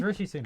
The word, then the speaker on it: Rishi Sunak: Sam just didn't want to just- pronounce their name so- wrong. No, it was. It's Rishi Sunak.